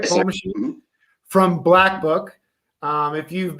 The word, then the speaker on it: Paul Machin: Yes, Paul.machin from Black Book.